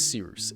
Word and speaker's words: Cyrus: My name is Seeroos. It's spelled like Cyrus, pronounced like Sea Rooster. Just take out the ter.